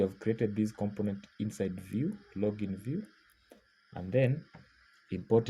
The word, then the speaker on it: Vue: notice that these words whenever we are saying View and view there are two different types of